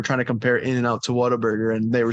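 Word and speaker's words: Whataburger: And what's the craze on Waterburg? And I don't even know if I'm saying it right. You're saying it right. Waterburg. Some people say like water burger.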